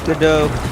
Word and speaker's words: Godot: Godot. Yeah, it pronounces things too literally.